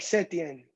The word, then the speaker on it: Setien: Joel Sedian, I think is how you say his last name. Yeah. So it's like Setien. Sedian. Setien.